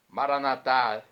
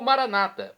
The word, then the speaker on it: Maranata: de Jesus o aramaico maranat vinde Senhor Jesus pronúncia católica ou Maranata pronúncia dos nossos irmãos separados evangélicos ou Protestantes não importa a pronúncia o significado é o mesmo vinde Senhor Jesus um